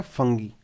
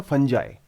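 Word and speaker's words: fungi: एक होता है हमारे पास अलगे और दूसरा हमारे पास होता है फंगी। फंगी भी बोलते हैं मोस्ट लोग इसको, बट एक्चुअली में इसकी प्रोनाउंसिएशन है फंजाई, इट्स अ फंजाई।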